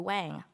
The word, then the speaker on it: Wang: This isn't, a lesson on Chinese last names, but yes, in case you're wondering, all of these Chinese last names have been pronounced wrong. Yang is Yang, Chang is Chang, Kang is Kang.